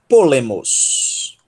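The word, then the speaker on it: πόλεμος: Nós temos polemos. Polemos. Polemos. Piômicron, po, sílaba tônica. Le, lambda y. Miômicron, sigma. Mos. Polemos.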